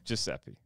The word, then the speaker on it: Giuseppe: Let me know if I'm pronouncing this correctly. Giuseppe? Yeah. Giuseppe.